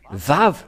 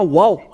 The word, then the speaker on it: vav: nous voyons cela euh nous voyons bien que c'est vave la vraie prononciation mais pas waou c'est bien un vave